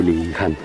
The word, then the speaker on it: Dilijan: en la ciudad de Dilijan. La J la pronuncian como Y.